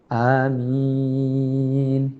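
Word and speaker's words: آمين: ആമീൻ എന്ന് പറഞ്ഞുകൊണ്ട് അവസാനിപ്പിക്കാം ആമീൻ എന്നുള്ള ഭാഗവും ഖുർആൻ ഓതുന്നതിന്റെ നിയമത്തോട് അനുസൃതമായികൊണ്ട്തന്നെ ഓതുമ്പോൾ ആ എന്നുള്ളത് രണ്ട് ഹർക്കത്ത് നീട്ടലും മീൻ എന്നുള്ളത് ആറ് ഹർക്കത്ത് നീട്ടലും കൊടുത്ത് ആമീൻ എന്ന് പറഞ്ഞുകൊണ്ട് നിർത്താം ഇത്രയും കാര്യങ്ങൾ ആണ് സൂറത്തുൽ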